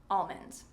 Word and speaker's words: almond: And I would say that pronouncing the L is okay. Almond.